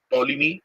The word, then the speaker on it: Ptolemy: Now the Greek authors like Megasthenes, Strabo, Pliny, Ptolemy, isme this P is silent.